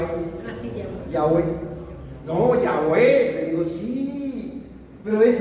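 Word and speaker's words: Yahweh: Se me fue la pronunciación de de Jehová en hebreo, pero es Yahwe. Ah, sí, Yahé. Yahweé. No, Yahwé le digo.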